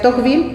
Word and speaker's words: Tocqueville: A mí me parece francés, que sería Tocqueville, pero no hay problema.